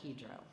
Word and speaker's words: Hydro: the current name is hedro and even though it's spelled Hydro the Europeans pronounce it hedro so that's how we pronounce it we're over by the